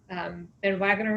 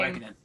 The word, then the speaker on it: Van Wagenen: And Ben Wagner, is that how you say it? Ben Wagner, saying, Van Wagenen. Sorry? Van Wagenen. Wagenen, sorry.